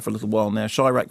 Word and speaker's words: Chi-Raq: it's been around for a little while now shyak pronounced as in Tyra a combination of sh Chicago